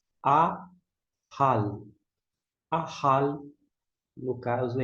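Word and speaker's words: אָכַל: Da direita para a esquerda, nós temos o Aleph com o alongo, é o Kamitz. A gente vai pronunciar A. Aqui nós temos o Raf com patá, som de A embaixo, e o L. A, hal.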